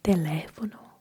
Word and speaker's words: teléfono: For example, teléfono. We don't say teléfono, we say teléfono because there is stress, teléfono.